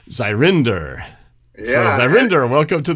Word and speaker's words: Zyryndyr: Zyryndyr. So not quite surrender, it's Zyryndyr.